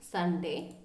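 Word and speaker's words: sundae: Okay, this pronunciation is Sunday. Sunday. Okay, Sunday means it's a dish of ice cream with added ingredients such as fruits, nuts and syrup. So that is known as Sunday. So the pronunciation is little bit different.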